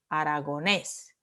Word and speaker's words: aragonés: La última sílaba es tónica. It is. You don't say aragonés. You don't say aragonés. And you don't say aragones. You say aragonés.